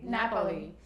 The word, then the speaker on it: Napoli: How do you pronounce it? Napoli.